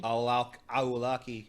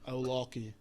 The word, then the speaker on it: Awlaki: It's just a K. It's not. I don't think it's a Q. No, it is a Q. Very good. I didn't mean to pronounce it as a Q. I just always say my K's like that. Awlaki.